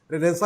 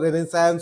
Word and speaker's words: Renaissance: रेनेसा के बहुत सारे उच्चारण हैं, हमने इसका नाम ये इसलिए रखा क्योंकि हिंदी में इसको अब आदिकाल से यही पुकारा जा रहा है, तो अब इसको रेनेसा ही कह रहे हैं जी। हाँ, अंग्रेजी में इसके उच्चारण रेनेसांस और तमाम तरह के अलग अलग है।